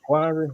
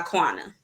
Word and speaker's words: Quana: I'm here with, do I pronounce it Quandary? How I pronounce it? So my name is Laquana, but I go by Quana.